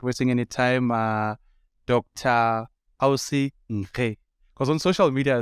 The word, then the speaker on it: Nkhi: Nkhe you are right. That's the right pronunciation. Because I'm Tsonga, and you know, Tsonga people, they will just, you know, not be sure of what they can pronounce it. Yeah. It is right. It is Nkhe. It's a Southern Sotho surname.